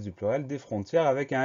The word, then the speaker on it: frontière: Donc la seule chose à laquelle on va devoir faire très attention, c'est à bien mettre cet accent grave sur l'avant-dernier E pour avoir le son E de frontière.